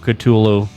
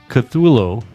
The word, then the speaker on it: Cthulhu: And then for the perfect closer, The Call of Cthulhu features some nice arpeggiated chords, and then they start going in with that diminished fifths.